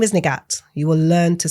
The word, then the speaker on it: Nighat: And I went, it's Nighat, but in Urdu, Punjabi, it's pronounced Nighat.